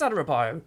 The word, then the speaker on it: Adarabioyo: Tosin Adarabioyo could be his name. It might be his name. Adarabioyo. It is Adarabioyo. I actually said it right first time.